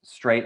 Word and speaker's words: Streit: It's actually pronounced Straight, I believe, though.